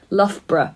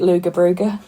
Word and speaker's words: Loughborough: __ ] knows who if you'd only ever seen that written down hey Loughborough Chris Doug's got great my sister about that uh someone who knows pronouncing it luga bruga hahaha I actually went